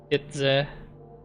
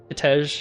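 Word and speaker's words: Kitezh: Kitse. Kitej, I mean. I keep mispronouncing.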